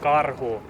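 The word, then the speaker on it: Karhu: your name over it my last name is CaRu I'll spell it out for you kilo Alpha Romeo Hotel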